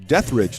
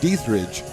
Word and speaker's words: Dietrich: Panthers lead it 2-0 on a home run from, as we've been schooled, Eliza Dietrich, not Dietrich, as the umpire came and told us.